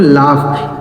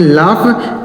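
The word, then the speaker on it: laugh: इसे पढ़ा जाता है दोस्तों लाफ। एल ए यू जी एच इसे पढ़ेंगे लाफ।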